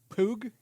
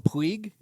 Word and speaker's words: Puig: I used to call him Puig, and then I realized through the LIV broadcast that it's Pug. Pug. It's just a little Pug. It's Pug.